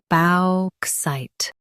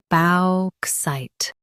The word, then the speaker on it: bauxite: bauxite Now read the syllables shown on the screen naturally. balk site bauxite Stress balk and keep site clear.